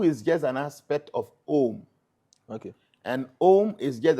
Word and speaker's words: Om: And how to pronounce the Om is Om.